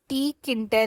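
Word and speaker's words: Tkinter: इसका जो proper pronunciation है वो टी किंटर है।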